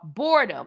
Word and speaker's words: Bohrdom: So he was a video game developer, and he developed a game in 2018 called Boredom. It's spelled Bohrdom.